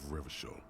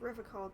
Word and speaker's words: Revachol: out any time, like Revachol did in its prime. I refuse to pronounce it the way that the game does. I'm ground into the hard CH.